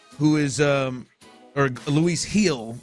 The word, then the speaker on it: Gil: Today they're running Framber tomorrow against uh Luis Gil, who is um or Luis Hill. I know that that G is silent.